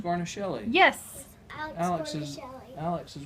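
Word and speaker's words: Guarnaschelli: We don't know how to pronounce her last Alex name. Garnishelli.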